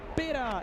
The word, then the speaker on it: Peta: Peta, am I pronouncing your name right?